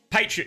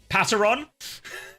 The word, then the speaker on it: Patreon: I love how he pronounces Patreon. You mean Pateron?